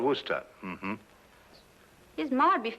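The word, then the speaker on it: Worcester: something else too doc but it's spelled w-o-r-c-e-s-t-e-r we're sister oh yes i say yes lord wooster mm-hmm his mind would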